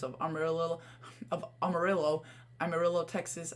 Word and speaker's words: Amarillo: right now if you go to Armour Amarillo Amarillo Texas I finally said it right I think